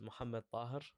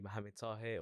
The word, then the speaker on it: Mohammed Tahir: My name is Mohammed Tahir, is like the way you pronounce it in Arabic. But everyone called me Mohammed Tahir or or the airport guy.